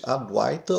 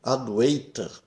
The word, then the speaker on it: Advaita: um U curto que é representado por W aqui e não deve ser pronunciado como aduiter. Aduiter é uma pronúncia totalmente errada do sânscrito. Não existe ei em sânscrito.